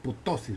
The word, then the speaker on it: ptosis: Se escribe con P, P-T-O-S, ptosis, por decir así.